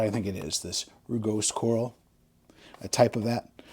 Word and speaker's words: rugose: It's not called morass corals, it's called rugose corals.